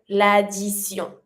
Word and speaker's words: l'addition: you're going to say l'addition. And the T pronounced like a S sound.